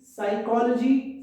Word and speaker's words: psychology: Silent P, psychology, psych, psyche, psycho, and pneumonia.